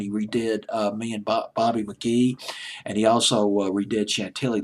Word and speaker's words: McGhee: Stick McGee, I'll pronounce it as McGee.